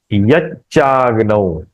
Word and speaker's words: यच्चाग्नौ: ये य चंद्रमसी य च डबल च का उच्चारण होना चाहिए। य आधा च जो है ना इस य के साथ करना है। य चंद्रमसी यच्चाग्नौ तब यह सुनने में अच्छा लगता है।